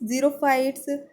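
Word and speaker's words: xerophyte: हाइड्रोफाइट्स, मेसोफाइट्स, जीरोफाइट्स या फिर इपीफाइट्स? सही उत्तर होगा यहाँ पे ज़ेरोफाइट कहलाते हैं। आपका ऑप्शन नंबर सी हो जाता है, ज़ेरोफाइट। स्पेलिंग इसकी एक्स से स्टार्ट होती है जब आप इंग्लिश में लिखते हैं तो।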